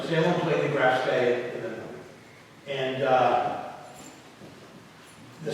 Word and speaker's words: Graf Spee: And she played the Graf Spee, which is the proper German pronunciation.